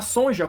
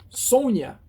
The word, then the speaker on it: Sonja: Consta aqui na revista a pronúncia correta do nome dela ela vai aparecer na edição seguinte aqui na edição 24 seria esta aqui olha Sônia Sônia eu fiquei eu